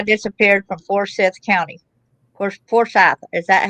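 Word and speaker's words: Forsyth: then that Levi disappeared from forth County for for sou is that how you pronounce it for sou yes ma'am that's correct his body was found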